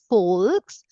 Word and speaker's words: Volks: V is fou right the sound of V is fou so I read this as FKS okay I read this as folks and W is VE